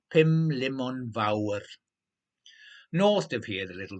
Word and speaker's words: Pumlumon Fawr: Olivia Bolivia asked, rolling the R and pronouncing the mountain perfectly. Pumlumon Fawr.